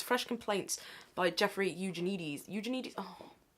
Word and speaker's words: Eugenides: It's Fresh Complaints by Jeffrey Eugenides. Eugenides. I'm so bad at pronunciation, even of authors that I should know.